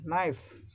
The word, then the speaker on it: knife: Knife, K is not pronounced.